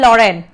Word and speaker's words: Lorraine: Pronounce this thing properly. It is Alsace and Lorraine.